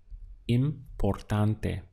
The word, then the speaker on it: importante: To express the word important would be importante. Let's count the syllables. We have im, por, tan, te.